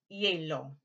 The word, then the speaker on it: hielo: Same word, if I say, H is silent, hielo.